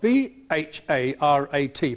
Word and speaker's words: Bharat: Jean, which Asian country is known to its inhabitants as Bharat, spelt B-H-A-R-A-T, pronounced Bharat?